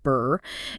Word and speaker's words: BRRRR: BRRRR, often pronounced just like the cold sound, burr, is a very popular and powerful strategy for building a rental property portfolio, potentially quite quickly.